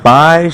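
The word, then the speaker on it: بَ: যেহেতু আ এবং বায়ের সাথে নিচের দিকে একটা নোক্তা আছে, সেটা হচ্ছে বায়ের সাথে যেহেতু ফাতহা যুক্ত হয়েছে, আমরা এটা উচ্চারণ করব ব্যা, দুই ঠোঁট থেকে ব্যা।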